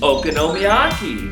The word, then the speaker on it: okonomiyaki: here with another episode it is pronounced oko nomi aki okonomiyaki okonomiyaki is literally a